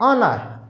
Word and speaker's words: honor: तो अब यह है ऑनर, ऑनर, ऑनर, H silent है।